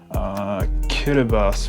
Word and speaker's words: Kiribati: The Philippines, Kiribati, but it's spelled Kiribati, Kazakhstan, Namibia.